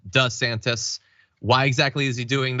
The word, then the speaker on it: DeSantis: a couple years ago he started changing how he pronounced his last name so that is true you can see it in video he used to call himself D santis now he calls himself does santis why exactly is he